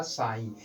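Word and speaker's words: sign: तो इस स्थिति में जी का उच्चारण नहीं किया जाएगा और इसको इस प्रकार से पढ़ा जाएगा साइन।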